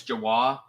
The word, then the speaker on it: Jawah: wrong right um so the pronunciation is jawah uh honestly if you pronounce it wrong it's no big deal um there's there's like a three or four different ways you can pronounce it uh it doesn't